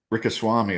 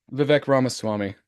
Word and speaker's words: Vivek Ramaswamy: So Rikaswamy or whatever. Vivek Ramaswamy. Yes, thank you. I butchered his name.